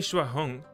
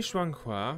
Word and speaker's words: Shuang Hua: How do I pronounce that? Kusang, Kusang, Kusang. Oh, not only Shua Hong, Shuang Hua.Not only Shuang Hua, but after Kung Zhang listened to my side